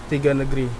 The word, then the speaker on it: Tiga Negara: You got to roll that tongue a little bit.